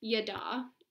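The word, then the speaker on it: ידע: And so the Hebrew word that's used for knowledge here is pronounced yada, which I think is fun to say.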